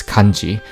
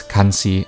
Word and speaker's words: 干支: It refers to tribal chiefs throughout the kingdom as Kanji, pronounced perhaps Kansi at the time.